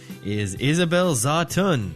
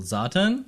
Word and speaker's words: Zawtun: It's Zatun. It's a tonal language that I was not taught.